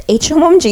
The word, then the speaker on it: Hmong: was like you know it's hmomg h is silent you we have a